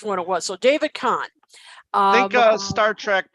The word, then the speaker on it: Kahn: starting there with producer and i hope i'm pronouncing his last name correctly david kane is that uh i'm sorry con is it khan okay thank you i wasn't sure which one it was so david kahn i think uh star trek part two